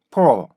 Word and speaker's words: pull: 우리나라 말은요, 그냥 풀 이렇게 읽죠. 우리나라 말은 그냥 풀 이렇게 읽어요. 그죠? 그런데 영어는 어떻게 돼요? 이거를 put 이거를 옆으로 나란히 읽어요. 그래서 이래서 포 이런 식으로 읽게 되거든요. 그래서 우리나라 말은 요걸 합쳐서